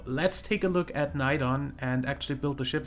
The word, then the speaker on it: Neidon: now we have a night on ship that needs a that's that's the only building also I am pronouncing night on in kinda German you'd probably pronounce it more like noon Aidan in English but I don't really